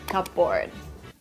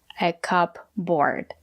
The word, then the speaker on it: cupboard: this food in the cupboard that's right it's not correct to say a cup board it's a special word